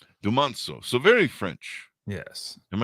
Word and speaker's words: Dumonceaux: Can you give me the pronunciation, on your last name, please? Absolutely. It's Dumonceaux. Dumonceaux.